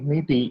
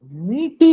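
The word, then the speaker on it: Métis: uh let me spell meaty m-e-t-i-s okay so french word yes is silent meaty writings called how breed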